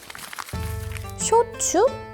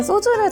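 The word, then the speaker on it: 焼酎: 쇼츠? 네. 방금 제가 소주를 잘못 말한 게 아니고요. 쇼츠가 맞습니다. 일본식 소주를 쇼츠라고 읽거든요.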